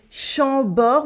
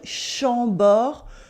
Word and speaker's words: Chambord: For example, the nasal sounds, as in Chambord with the on sound, Chambord, the on sound, as in Chenonceau.